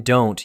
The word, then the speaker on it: don't: The t in don't usually disappears. Say it like don't wanna.